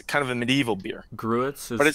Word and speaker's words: gruit: Gruits is spelled G-R-U-E-T-S?